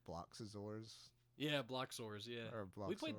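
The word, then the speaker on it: Bloxorz: Well, you're adding like 2 syllables to that. name. Bloxazors. Is it Bloxors? Bloxors. B-O-L-O. I'm saying Bloxazors. I know why. I don't know. It has 6 letters in it. Bloxors.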